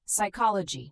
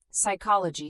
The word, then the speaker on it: psychology: Psychology, pneumonia, psalm. Psychology starts with an S sound.